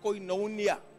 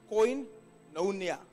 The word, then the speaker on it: Koinonia: I'm ending the drawer Cuts you off from Koinonia I'm giving you a Greek word any Bibles